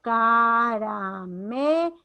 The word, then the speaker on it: caramelo: Separo caramelo, me, mayor fuerza de voz.